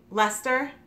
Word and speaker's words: Leicester: So, because you know, we have out here in Massachusetts, there's Worcester that's Leicester, Blue Faced Leicester.